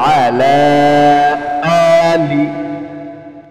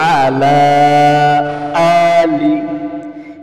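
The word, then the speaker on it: عَلَىٰ آلِ: আল্লাহুম্মা সাল্লি আলা, বলেন আল্লাহুম্মা সাল্লি আলা মুহাম্মাদিন ওয়া আলা আলি। অনেকে ওয়া আলা আলি বলে না, প্রথমটা আইন গলার মধ্যে চাপ দিতে হবে, এরপরেরটা কি হামজা। ওয়া আলা আলি ইব্রাহিম ইন্নাকা হামিদুম মাজিদ।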